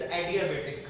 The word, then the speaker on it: adiabatic: Word ध्यान देगा, it's not adiabatic, it's adiabatic.